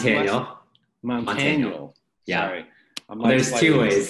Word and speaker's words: Montaniel: Montaniel. Yeah. Sorry. There's two ways. There's the true way, which is Montaniel. That's Montaniel. The Filipino way. And then the Americanized way is Montaniel, like Daniel with a T.